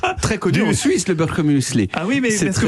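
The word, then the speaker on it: Birchermüesli: Très connu en Suisse, le birchemuesli. Ah oui, mais parce que vous êtes les premières personnes au monde que je rencontre qui prononcent bien ce que moi j'appelle le birchermuesli.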